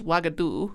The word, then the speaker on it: Uagadou: Well, I'm pretty sure like I think the African one is Wagadu, which is spelled like Uagadou.